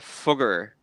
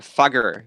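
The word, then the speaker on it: Fugger: were found founded by the fogger the fagger when you pronounce it english the the fogger family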